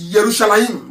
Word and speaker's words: Yerushalayim: there is multi-sourcing Hebrew there is not just a few people it is why this yerushalayim that's a proper pronunciation some a mistake because